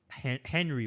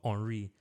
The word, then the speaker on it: Henry: I was fascinated by like Henry, but it's pronounced Henry. I was like, who is this guy?